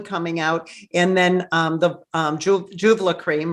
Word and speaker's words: Julva: And then the Julva cream, right? Did I pronounce it right? Vulva with a J, Julva.